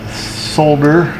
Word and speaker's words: solder: So, we're using the old solder for our viewers across the pond who pronounce the L in the word solder.